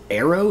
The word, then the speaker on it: Aaero: and gentlemen welcome to arrows is that how it's pronounced I assume so I would think so it's a a ro so I think it's arrow so we discovered this